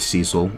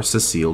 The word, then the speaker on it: Cecil: as I State sits very badly with with Cecil or Cecil depending on how you like to pronounce the name um and so he essentially